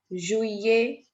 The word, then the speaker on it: juillet: Juillet, July, the month of July is called Juillet. Double L is silent.